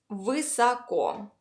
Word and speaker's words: высоко: Let's divide the word into two parts so that it's a little easier to pronounce. The first part is высоко, which means high.